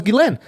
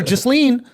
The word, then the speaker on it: Ghislaine: A lot of people don't even know we don't even know how to pronounce her name. I just found out it was Ghislaine. I've been calling her Ghislaine.